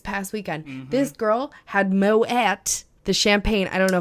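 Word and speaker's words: Moët: This girl had Moet, the champagne. I don't know if it's Moet or Moet. I know it's expensive. I feel like it can be both. I think it's both. It rhymes with poet.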